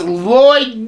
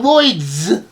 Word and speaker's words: Lloyd: name is S Lloyd there is no s no F hey it's just ly there is no Lloyd it's Lloyd du du like d lloy not Lloyd's I know unless you're